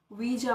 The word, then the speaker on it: Ouija: बट I will tell you the correct pronunciation of this word which is वीजा board. W से start होएगी इसकी pronunciation, not from O. Okay, it's called वीजा board.